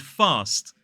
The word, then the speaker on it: fast: And fast in a modern British RP accent, whereas somebody in the north may say fast. Both of the pronunciations are fine, both of the pronunciations are correct, but in a modern British RP accent, we would say fast, not fast.